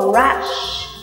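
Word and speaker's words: rash: bạn nhớ cho cô âm cuối cùng là âm S dài đọc cho cô Rush Ừ Con ngửi lên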